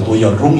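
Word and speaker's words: Neuerung: 이게 독일어는 NU입니다. 발음은 노이라고 이렇게 돼요. 그래서 그 명사어미로 어룽에서 노이언 동사고 노이어룽 이게 명사거든요.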